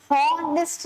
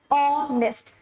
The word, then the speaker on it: honest: अब देखिए H silent है, इन सब वर्ड्स में आप देखेंगे एच साइलेंट है, एच की आवाज नहीं आ रही, सेकंड लेटर की आ रही है। हम हॉनेस्ट नहीं बोलते, हम बोलते हैं ऑनेस्ट।